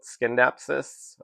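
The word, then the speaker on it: Scindapsus: But um so I pronounce it synapsis but um I do hear a lot of people call it skindapsis. Um, I think that C in the spelling of the word is technically supposed to be silent, but um,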